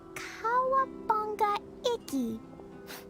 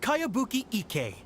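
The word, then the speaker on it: Kayabuki Ikkei: one i've never heard of it hmm by cowabunga icky this is a really strange name who's this cowabunga it's pronounced kayabuki ek that would be me outlander brigade is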